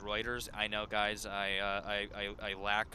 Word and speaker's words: Reuters: Reminds me, unimportant, but Reuters is pronounced Reuters.